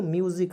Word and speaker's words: music: उसके बाद देखिए MUSIC, मौसी नहीं पढ़ना है, इसे पढ़ेंगे दोस्तों म्यूजिक, अधमा यू जिक, MUSIC, म्यूजिक पढ़ेंगे दोस्तों, म्यूजिक मिस होता है दोस्तों संगीत, क्या होता है दोस्त मेरे, संगीत।